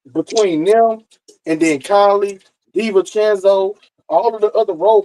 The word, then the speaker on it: DiVincenzo: Dylan Central stats. Central stats. How do you say his motherfucking name? Dylan Central stats. Fuck. What is his nigga name? It's DiVincenzo.